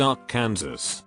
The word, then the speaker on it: Arkansas City: And then there's Arkansas City, a small town in Kansas, pronounced Ark, Kansas, or just Ark City for short.